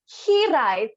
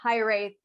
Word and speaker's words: Hiraeth: only changed the pronunciation, because the Welsh pronunciation would be Hiraeth. So we were like, I think we should make it a bit more English. So Hiraeth was the best option.